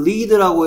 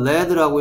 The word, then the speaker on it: lead: 얘를 lead라고 읽을 때와 red라고 읽을 수도 있습니다.